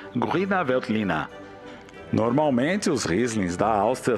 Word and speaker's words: Grüner Veltliner: A Riesling também é importante na Áustria, apesar de perder espaço na mídia para a uva nacional chamada Grüner Veltliner, ou, melhorando a pronúncia, Grüner Veltliner.